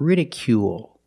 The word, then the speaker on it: ridicule: we pronounce it long it's not rical or ridicule it's ridicule make the long ooh sound plus the dark L at the end of the word ridicule ridicule is a